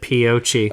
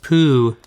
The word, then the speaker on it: Poochie: I said Piochi. It was spelt Piochi on the Google Images page, but... Pronounced Poochie.